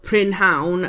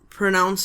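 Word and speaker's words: prynhawn: But although it's spelled prinhound and that's how you would say it if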